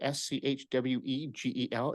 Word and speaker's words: Schwegel: Schwegel, S-C-H-W-E-G-E-L. It's spelled like Schwegel and rhymes with bagel.